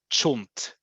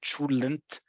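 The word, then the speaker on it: cholent: all year round, is what we call in Israel chunt. Okay, sometimes people will add another syllable in there and they'll say chulent, but most of the time people will say chunt.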